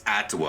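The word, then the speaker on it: Atua: being with us today oh it's atwa I've been saying it wrong this entire time boo boo you're supposed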